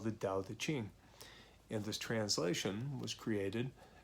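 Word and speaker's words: Tao Te Ching: The actual pronunciation is with a D, so D-A-O, Tao De Jing, and the way of change or the path of change.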